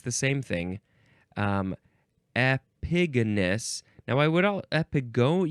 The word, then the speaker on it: epigonus: the same thing um epigonus now I would all epigon you could say epigonus but it doesn't really say that here epigonus yeah that's how you say it so this is not